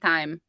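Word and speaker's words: Taim: It's so we pronounce it time. We say time with an AI. So, t a i m.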